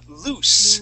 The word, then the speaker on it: loose: Yeah, so it would be incorrect because they would be running loose. Lose. Okay, with that S sound, that would be voiceless S, loose.